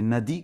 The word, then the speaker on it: Nadi: de l'esprit et là nodi nodii comme ils disent hein les les petits a sont sont prononcés un peu haut c'est Nadi comme on dit c'est le fleuve mais